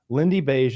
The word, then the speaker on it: Lindybeige: Lindy Beige is spelled LINDYBEIGE.